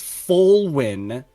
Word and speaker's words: Folwyn: For the record, everybody has been pronouncing it wrong except me the entire time. It is Folwyn.